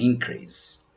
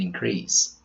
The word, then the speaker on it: increase: With the other 3 words, the stress changes according to their use. As nouns, their pronunciations are record, rebel, and increase. As verbs, we pronounce record, rebel, and increase.